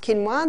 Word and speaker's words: quinoa: familiar with with it's spelled quoa but it's pronounced quinoa the Aztecs love their quinoa Aussies are starting to get familiar with it